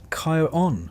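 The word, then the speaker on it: Charon: if you've never quite been sure how to pronounce his name. It's Kyon, for the record, though he doesn't seem the type to correct you.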